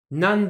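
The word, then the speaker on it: 何: Nan demo. Ah bah tiens, ici vous voyez, le kanji nani se prononce nan parce qu'il est suivi par un kana qui appartient à la ligne des D.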